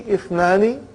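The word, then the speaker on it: اثنان: That Ithnani, the Hamza is Hamzatul Wasal. If it comes in the beginning, it is pronounced. If it doesn't come in the beginning, then it is assimilated.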